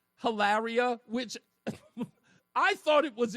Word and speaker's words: Hilaria: I'm almost certain her name is Hillary, and she pronounces her name Hilaria, which I thought it was a joke.